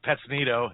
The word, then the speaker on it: Petonito: Exactly why I call myself, because it's Petonito and nobody knows how to pronounce it.